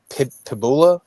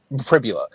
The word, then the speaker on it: Pribula: But uh Piboula, is that how you say his last say his name? He's in Missouri now. Bo Privbula. Pribula.